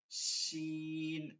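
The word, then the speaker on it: ش: শিন, শিন, শিন, শিন, শিন।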